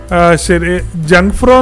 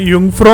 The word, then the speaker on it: Jungfrau: സമയമാണ് യങ്ങ്ഫ്രോ എന്ന വാക്കിൻറെ ജങ്ഫ്രോ എന്നാണ് നമ്മൾ അതിന്റെ സ്പെല്ലിങ് കണ്ടാൽ മനസ്സിലാക്കുന്നത് അതിന്റെ ശരിയായ മലയാള ഉച്ചാരണങ്ങൾ യുഫ്രോ എന്നാണ് ജർമൻ ഭാഷയിൽ ജെ വൈ പോലെയാണ് ഉച്ചരിക്കുന്നത് അതുകൊണ്ട് ജങ് എന്നുള്ളതിനെ യു എന്ന് പറയും ഫ്രോ പിന്നെ അതുപോലെതന്നെ ജങ്ഫ്രോ ജോജ് എന്നും പറഞ്ഞാണ് നമ്മൾ ഒരു വാക്ക് കാണാം ഇതിനെ നമ്മൾ പറയുന്നത് യുഫ്രോ യോക്ക് എന്നാണ് ശരിക്കും മലയാള